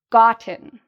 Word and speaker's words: gotten: There's two parts to the pronunciation of this word, and the first part is louder; the second part is quieter.